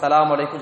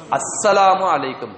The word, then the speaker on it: அஸ்ஸலாமு அலைக்கும்: அஸ்ஸலாமு அலைக்கும், சலாம் அலைக்கும் சொல்லக்கூடாது, சலாம் அலைக்கும் சொல்லக்கூடாது. எப்படி சொல்லணும், அஸ்ஸலாமு அலைக்கும் ஷத்த கரெக்டா உச்சரிக்கணும்.